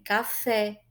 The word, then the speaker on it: café: Então, por exemplo, quando eu digo que uma palavra ela é oxítona, eu estou dizendo que a acentuação tônica dela é na última sílaba, como em café, javali, itu, tá?